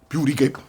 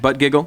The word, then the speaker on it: Buttigieg: This stands in stark contrast to the Fox News town halls in which me and my colleague Pete Buttigieg There you go. Yeah. Correct participated pronunciation. Butt giggle.